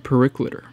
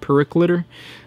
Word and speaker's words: Periclitor: I looked it up, it said that it was a Latin term, so it would make sense that it gets said all in one word, so not one syllable, but Periclitor.